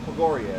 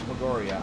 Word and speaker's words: Pogoria: Pogoria is how you say that. Pogoria.